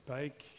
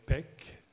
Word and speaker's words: Paik: nam june paik enfin les américains prenant 7 pike et je crois que les amis coréens prononcé pec pec mais même john pike